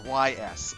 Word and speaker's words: Ys: the ease series that's Ys um I don't know why they pronoun oh is that how is that is that how it's pronounced yeah it's pronounced e um they they whenever